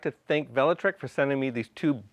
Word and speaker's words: Velotric: This is a Class 2 e-bike called the Nomad 1 by Velotric, and Velotric is the correct pronunciation.